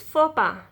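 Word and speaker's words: faux pas: looks at letter x there aren't many words with a silent x you you don't pronounce x x will be silent you pronounce this word is fopa you pronounce this white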